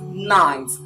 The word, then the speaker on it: knight: k it is pronounced ninth k is silent night let's move over